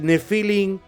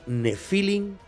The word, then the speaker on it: Nefilim: Después de todo lo contado, ¿qué son de verdad los Nefilim o Nefilim, como en realidad se debería de pronunciar por su origen hebreo?